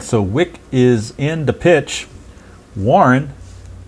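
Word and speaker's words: Wieck: W-I-E-C-K, I guess it's pronounced Wick, something like that.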